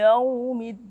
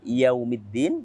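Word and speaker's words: يَوْمِ الدِّينِ: Di sini ada 3 hukum tajwid Yang pertama yaitu yaumi. Yau. Kita bacanya lembut, bukan yau, tapi yau. Maka karena kita baca lembut, di sini kita hukumi dengan hukum ilmu tajwid bernama madlin atau mad layin.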